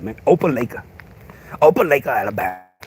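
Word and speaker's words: Opelika: Opa Lake, Alabama.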